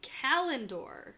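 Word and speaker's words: Callandor: Kalendor. Yes. Good pronunciation.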